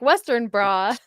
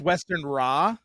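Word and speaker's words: Westenra: Freudian slip you're like Western bra I literally thought it was Western bra it's Western Raw it's it's na at the end Western all right well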